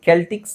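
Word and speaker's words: Celtics: ಇದು ಎರಡು ತರನು ಹೇಳಬಹುದು ಕೆಲ್ಟಿಕ್ಸ್ ಸೆಲ್ಟಿಕ್ಸ್ ಎರಡು ತರನು ಹೇಳ್ತಾರೆ ಅದು ಗೊತ್ತಿಲ್ಲ ನನಗೆ ಯಾಕ ಹಂಗೆ ಹೇಳ್ತಾರೆ ಅಂತ ಬಟ್ ಎರಡು ತರನು ಇದೆಸ ನ ಕೆ ಅಂತನು ಹೇಳ್ತಾರೆ ಇಲ್ಲಿ ಸೆಲ್ಟಿಕ್ಸ್ ಅಂಡ್ ಕೆಲ್ಟಿಕ್ಸ್ ಅಂತ ಹೇಳ್ತಾರೆ ಇಲ್ಲಿ ನೋಡಿಸಎ ಇದೆಸ ಕೆ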